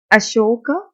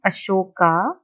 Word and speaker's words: Ashoka: Alright, so starting with Ashoka, a unique ruler. You can call him Ashoka or Ashoka also. Okay, either of the words will be correct, either of the pronunciation will be correct.